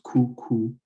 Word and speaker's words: coucou: So like I said, with the O and the U, that is pronounced oo. So it's coucou, and that is very familiar as well.